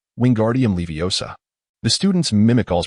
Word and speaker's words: Wingardium Leviosa: Wingardium leiosa. Wingardium leviosa. The students mimic all's pronunciation, chanting in unison, all flicks his wand,